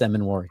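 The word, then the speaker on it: Emmanwori: Listen, trying to add an extra syllable there. Yeah, it's Emmanuel.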